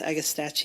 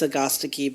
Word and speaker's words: Agastache: See, I don't think it's pronounced Agastache either. Really and truly, it's Agastache, but because it's Greek.